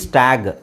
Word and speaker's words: stag: STAG, ಸ್ಟ್ಯಾಗ್. ಯಾಕೆ ಹೇಳಿ? ಇದಕ್ಕಿಂತ ಮುಂಚೆ ನಾನೇನು ಹೇಳಿದೆ? ಕೊನೆಯಲ್ಲಿ ಜಿ ಬಂದರೆ ಅದನ್ನು ಗ ಅಂತ ಹೇಳಬೇಕು. ಸೊ STAG, ಸ್ಟ್ಯಾಗ್.